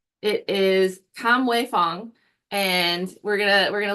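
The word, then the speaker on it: Kamwei Fong: artist and I want to make sure that pronounced his name right it is Kam way Fong and we're gonna we're going to look at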